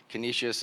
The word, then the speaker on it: Canisius: class I got to put these glass in Canisius that's how you say it Canisius and the fourth one is Richmond Virginia so